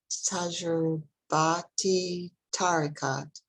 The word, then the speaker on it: tajurbat-e tariqat: I may ask you to step in the next time I pronounce that. You got it. Tajurbati tariqat.